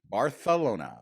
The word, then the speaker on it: Barcelona: Show me a Spaniard or somebody in Barcelona who says it like Americans say it when they're trying to say it with the lisp. I've never heard a single person say it like that.